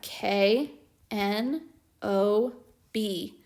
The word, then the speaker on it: knob: word is i have k n o b k n says what sound the k is silent so let's sound out